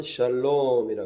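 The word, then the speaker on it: שלום: 우리가 서로 위해서 기도해주고 또 평안이 있도록 기도해야 되고 이 평안을 갖다가 히브리어로는 샬롬이라 그래요.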